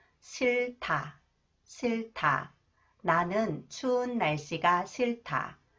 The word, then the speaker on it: 싫다: final cons h combed with h is 타 싫다 싫다 나는 추운 날씨가 싫다 나는 추운 날씨가